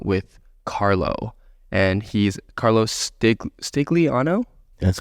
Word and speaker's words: Stigliano: And he's Carlo Stigliano? That's how you pronounce it. Yeah. Oh, sweet. Stigliano. Is it Giancarlo Stigliano? Giancarlo Stigliano. Let's go. Yeah. Let's go. If you want to be legit, Stigliano.